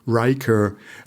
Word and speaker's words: Reichardt: at the global level my last name is reichardt and it also has this weird as your original pronunciation and i try to help myself with uh pronouncing it riker um yeah and which is uh like a commander on star trek figure yes commander yes